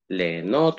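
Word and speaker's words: ליהנות: Легенот у нас переводится как? Легенот. С юдом пишется, но мы ее не слышим.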